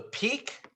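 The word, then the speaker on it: pique: what we call the peak or the invite peak is spelled p p-i-q-u-e not peak like peak atom it's peak we're going to need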